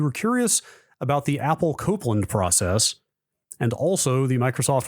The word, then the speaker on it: Copland: of each was Apple Copeland pronounced like the composer Aaron Copland I think I was pronouncing it Copland when we talked about